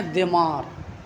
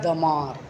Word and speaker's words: دمار: عام طور پر لوگ دال کے کسرے کے ساتھ لکھتے ہیں دمار، لیکن اس کی فارسی شرح میں تلفظ بتایا ہے دمار، دمار۔ سمجھ میں ہے نا؟